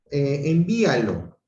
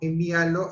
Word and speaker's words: envíalo: Envíalo, igual, ¿no? Envíalo hace que hay una incidencia aquí en el hiato, mayor fuerza de voz en la I, reía, ¿no?